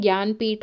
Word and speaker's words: ज्ञानपीठ: ज्ञानपीठ English में ऐसे ही लिखा जाता है। स्पेलिंग गलत नहीं है। यह ऐसे ही होता है। बस इसका प्रोनंसिएशन ज्ञानपीठ होता है।